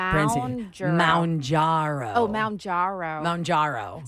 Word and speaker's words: Mounjaro: Manjaro. I was saying Manjaro. Manjaro? But it's Maun, M-A-W-N Ooh, pronunciation. Mounjaro.